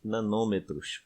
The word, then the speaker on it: nanômetro: Íon sódio Na+, 0,97 nanômetros, ou nanômetros. O nome correto, a pronúncia correta é nanômetro.